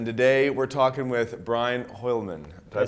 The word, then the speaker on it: Hoialmen: My name is Findlay-Shirras, and today we're talking with Brian Hoialmen. Did I pronounce that correctly? Yeah, you pronounced it. Brian Hoialmen.